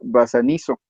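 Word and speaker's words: βασανίζω: Y la palabra que viene vertida como atormentar, estoy buscándolo, es la palabra 928 del diccionario griego Strong y se pronuncia basanizo y significa torturar.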